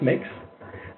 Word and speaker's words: Mx: It's pronounced mix.